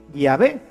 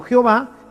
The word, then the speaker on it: Yahvé: Y por eso nosotros sabemos que la pronunciación correcta de Yahvé es así, Yahvé, y no Jehová, que es simplemente una literación.